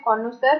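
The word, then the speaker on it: connoisseur: कॉनोसर, ये जो वर्ड लिखा है इसकी प्रोनाउंसिएशन है कॉनोसर।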